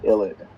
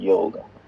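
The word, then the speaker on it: ylide: this sort of a compound is actually an illid i don't know where the spelling came up from but it's pronounced illid not not yield so this ilit is a species that has a negative and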